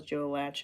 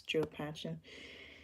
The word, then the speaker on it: Joe Patchen: Henry and Joe Patchen I've been saying his name wrong the whole time I thought it was Joe latch and it's Joe Pesci and Flicka and then